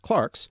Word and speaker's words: clerks: in the Middle Ages clerks sometimes now pronounced Clarks were the only well